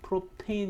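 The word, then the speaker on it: propane: 집에서 쓰는 프로판 께 쓰는 프로판 이 아니고 프로 페인 이라고 하죠 그죠 그래서 r 케인 중 가장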